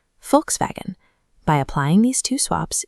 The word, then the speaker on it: Volkswagen: We call it a Volkswagen, but in German, that V at the beginning is an F and the W is a V. Volkswagen.